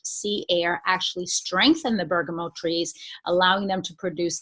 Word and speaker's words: bergamot: show you was actually Bergamo but it's sometimes it's pronounced Bergamo as the French do or bergamot even one is fine our sourcing location is